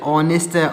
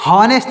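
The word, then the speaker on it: honest: sorry our honour है तो इसमें एच साइलेंट है क्या साइलेंट है दोस्तों एच एच एच इसमें चच जैसे इसको नेस्ट नहीं पढ़ेंगे इसको ऑनेस्ट पढ़ेंगे क्या पढ़ेंगे ऑनेस्ट इसको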